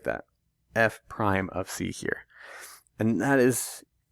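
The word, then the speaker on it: f′(c): of you who aren't watching the video right pronounced F prime of C it's that same function notation F of something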